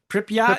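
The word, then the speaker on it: Pripyat: I don't know if that's Pryyot. Pryot. Yeah, you're saying it right.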